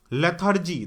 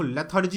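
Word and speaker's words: lethargy: ठीक है ना, यहां पे लेथर्जी, देखो लेथर्जी होता है, प्रोनाउंसिएशन ठीक होना चाहिए, है ना, लेथर्जी, तो लेथर्जी का फर्स्ट आंसर सही है।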